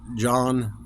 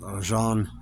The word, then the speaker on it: Jean: he was the director uh starring a j John or I it's it's pronounced Jean it's spelled jeene but it's Jean Luke kard